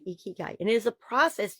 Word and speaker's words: ikigai: i k i g a i but it's pronounced e k key guy e key guy e key guy and it is a process used to identify